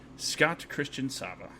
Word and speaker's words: Scott Christian Sava: yeah he did it he did it the way my family says it so that's good yeah